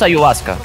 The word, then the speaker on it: ayahuasca: hay huasca no conoces ayahuasca ponte Google ponte en Google hay huasca ya ponte ponte ponte Google hay huasca en portugués decimos a y vasca la pronuncia o sea básicamente yo